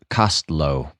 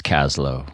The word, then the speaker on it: Kaslo: First Nations around here and he says they pronounced it cost cost low okay so those of us who live here it's Kaslow mm-hmm well you know a colleague of mine